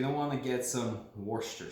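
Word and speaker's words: Worcestershire: So you're gonna want to get some Worcester sauce, is what they call it, even though it's spelled like you spilled some alphabet soup on the floor, basically.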